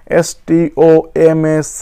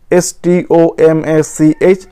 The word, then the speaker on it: stomach: বা ধরো স্টমাক, STOMACH, স্টোম্যাক, last আছে CH, উচ্চারণ হচ্ছে ক, লাইক এ কে, STOMACH, উচ্চারণ হচ্ছে CH হচ্ছে ক, স্টোম্যাক, ফলে এখন হবে শুধু S, স্টোম্যাক্স, STOMACHS, ক্লিয়ার।